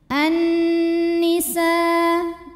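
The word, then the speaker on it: النساء: An-nisa, nunnya gunnah musyaddadah karena nun bertasydid. Cara bacanya dengung, bunyi n-nya tahan sampai ada suara masuk hidung. An-nisa'i, sa mad wajib muttasil. Karena ada mad tabi'i bertemu hamzah dalam satu kata, di mana mad tabi'inya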